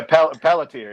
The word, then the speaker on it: Pelletier: do you call them paul poltier paul pelletier is that how you pronounce his name yeah pelletier yeah oh and then here